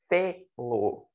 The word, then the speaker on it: fê-lo: uma sílaba só, e essa sílaba ela é pronunciada com ênfase, né, uma monossílaba tônica, então a gente coloca aí um acento aqui circunflexo nesse caso, né, fê-lo, né, então ficaria aí dessa forma.